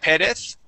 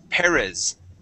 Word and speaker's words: Perez: You said Perez. Okay, Yes. let's practice saying a Z in English. Okay, we say Perez Perez.